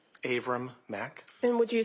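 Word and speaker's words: Avram: Aram Mac. And would you spell your name for the record, please? Abram is spelled A V like Victor, R like Robert, A like Apple, M like Mary.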